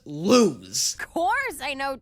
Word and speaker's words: Luz: Everybody in this show pronounces it lose. Like you lost something.